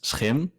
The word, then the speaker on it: Schim: correctly pronounce it uh so we pronounce it as shim it's a dutch name so that's um that's the first uh thing but i'd love to hear more um like international uh people from all over the world so how they pronounce it if you pronounce it shim that's fine as well but uh it's him